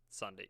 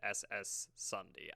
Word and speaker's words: SSundee: has drastically changed SSundee even though it's just funny Sunday yeah I always have pronounced it ss Sunday I don't know why well that's wrong he was Among Us